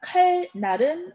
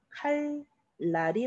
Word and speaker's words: 칼날: 자, 칼날은 칼날 그대로 발음한다? 아니에요. 우리 리을을 만났으니까 유마 일어나야죠. 칼날이 맞습니다.